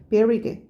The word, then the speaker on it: buried: buried, 발음이 bury예요. buried, 묻혀져 있답니다.